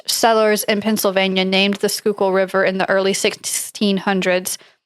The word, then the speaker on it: Schuylkill: Schuylkill. Okay. Schuylkill. It's a Dutch word that means hidden river. Okay. So Dutch settlers in Pennsylvania named the Schuylkill River in the early 1600s.